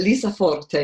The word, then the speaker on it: Lisa Forte: Is it Lisa Forte? Is that right? Yes, and you've pronounced it spot on.